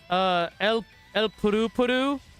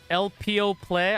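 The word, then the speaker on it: Elpeo Ple: Yeah, I heard it's pronounced El Puru Puru, so I'm just gonna go with that, but it's not spelled that way.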